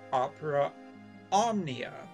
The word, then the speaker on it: Opera Omnia: on the phone with opera omnia which yes that is how it's pronounced and the interesting thing